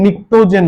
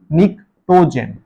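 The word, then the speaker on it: pnictogen: নাইট্রোজেন ফ্যামিলিকে নিক্টোজেন বলে। পি এন I city নিটোজেন। পিটা উচ্চারণ হয় না।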